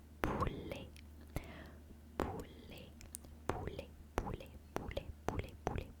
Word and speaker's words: poulet: in French we say poulet, poulet, poulet, poulet, poulet, poulet, poulet, poulet, poulet, poulet, poulet, P-O-U-L-E-T, P-O-U-L-E-T, poulet, poulet, poulet, poulet, poulet, poulet. The T at the end is silent.